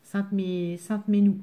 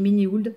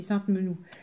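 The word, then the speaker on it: Sainte-Menehould: Alors, j'allais vous le dire comme je le prononce, mais c'est pas comme ça. Sainte-Menou. Sainte-Menou. Concrètement, moi, je dis Ménéhould pour être sûr de tout bien écrire. Parce que c'est compliqué à écrire. Donc, je prononce toutes les lettres, mais c'est Sainte-Menou.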